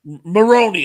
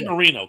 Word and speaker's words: Maroney: Maroney. I always say Marino. Kelly Maroney.